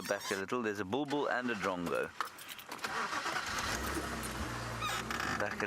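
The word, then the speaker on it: bulbul: b if it's spelled b o o b o o no it's not it's a bull bull not a boo boo b u l b u l bull bull there is a boo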